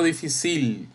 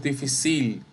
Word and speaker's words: difícil: Difícil, no difícil. No decimos difícil, decimos difícil. Incluso fíjense que está la acentuación. La fi es la sílaba tónica y obviamente eso es grave o llana.